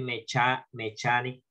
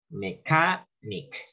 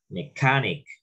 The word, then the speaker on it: mechanic: No vayan a decir mechanic leyendo en español, no, mechanic, acento en la A, mechanic.